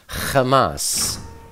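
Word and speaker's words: חמס: Bible as violence is the Aramaic Hebrew word Hamas actually pronounced Hamas see Strong's exhaustive Concordance number h254 Hamas is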